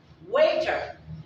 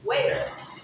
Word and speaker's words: waiter: The T is single, and it's at the center. So you got to pronounce it D with a slightly sound. So it's waiter. You're not pronouncing the T completely or the D completely. You're pronouncing it waiter. It's a single and slightly D.